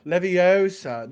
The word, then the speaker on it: Leviosa: How do you pronounce the floating spell in Harry Potter? Leviosa, not Leviosa.